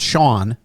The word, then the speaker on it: Sean: Now, Dad would be proud, right, Sean? It's not Sean, SHAWN. It's Sean. So it's a hard Correct. it's like rhymes with John, right?